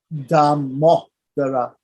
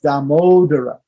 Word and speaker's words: Damodara: We have no short E and O in Sanskrit. In English and in other languages in India, they do sometimes have a short E and a short O. A short E would be and O. There is no or O in Sanskrit. So this is not Damodara. It's not Damodara. It's Damodara.